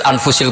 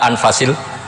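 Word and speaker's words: أنفس: Di sini ditulis anfusil kutub, selalu saya baca anfasil kutub karena maknanya kitab terbaik. Kalau kitab terbaik bacanya bukan anfus tapi apa? Anfas. Ya nanti kamu debat sendirilah sama teman-teman ini bacanya apa.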